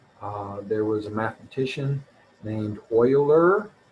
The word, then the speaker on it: Euler: was a mathematician named euler pronounced like oil like motor oil but spelled e u l e r and leonard euler wanted